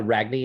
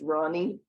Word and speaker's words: Ragni: Go ahead, Ragni, and if I mispronounce, please correct me. It's a silent G, pronounced Ronnie. Ronnie. Like the word rain, R-E-I-G-N.